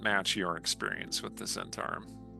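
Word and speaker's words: Zhentarim: Yeah, it doesn't match your experience with the Zentarum. Or the Gentarum. Some people pronounce it that way.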